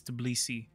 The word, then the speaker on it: Tbilisi: All right, let's send in the lads to Tbilisi. And yes, that's how you say it. It's Tbilisi.